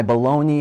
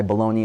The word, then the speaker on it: bologna: sings the song, "My bologna has a first name, it's O-S-C-A-R. My bologna has a second name, it's M-A-Y-E-R. That's B-O-L-O-G-N-A, which rhymes with pony, not Pologna.